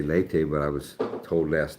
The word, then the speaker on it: Leyte: Lee or lei? Lee. Lee. So why did he say lei? The bang captain. He said lei. So I thought I was saying it wrong. Lee. That's how I always said it.